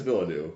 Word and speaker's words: Villeneuve: So you don't like Denis Villeneuve? No, I don't. Is that how you say his name? Villeneuve, yeah.